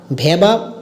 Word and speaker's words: Vava: তো আপনারা যারা এই ভাবা অ্যাপ্লিকেশন, অনেকে বলে কি VA মানে ভ্যাবা উচ্চারণ হয়, বা আমরা এটাকে ভাবা বলি, VA ভাবা।